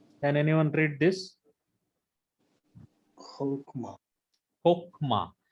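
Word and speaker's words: חכמה: Kokma. Why this is brother not khakma, long comets? Why it is comet hatu? Unaccented closed. Yeah, syllable. it is closed and unaccented syllable.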